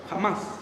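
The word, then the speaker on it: Hamás: el grupo extremista este jamás jamás Así se pronuncia jamás jamás Ah está dando lo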